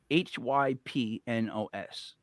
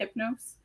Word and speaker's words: Hypnos: hyp she she's great hypnos hypnos h y p n o s hypnos hypnose that's is how I'm pronouncing it from now I'm just doing